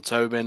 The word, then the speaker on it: Tobin: podcast, we have a special guest called Tubbing. Sorry if I pronounce it wrong. Can you start by introducing yourself please? Yeah. Hi everyone. My name is Tobin.